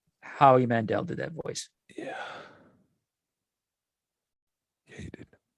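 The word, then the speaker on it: Howie Mandel: cursing in Bobby's voice is that hoe Mandel Howe Mandel sorry how Mandel I was I get names confused I knew I was saying it wrong it's not Jeff [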